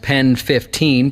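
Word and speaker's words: PENN 15: to be called penis technically it'll most likely be pronounced pen 15 P nn 15 but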